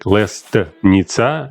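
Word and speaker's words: лестница: But it spells like lesnitsa, but we never say T. It's like lesnitsa.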